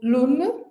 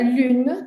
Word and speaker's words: lune: A gente precisa treinar muito o biquinho para conseguir pronunciar lune ao invés de pronunciar lune, por exemplo, né?